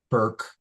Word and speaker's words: Bourke: But between now and then, to get more, her website is her name, Hannah Bourke, although it's spelled B-O-U-R-K-E.